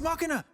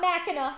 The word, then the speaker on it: Machina: I'm gonna say it right. Machina. It's Machina. We shit up. Not Machina. Here we would say a Mac, like Mackin, because we're from Jersey.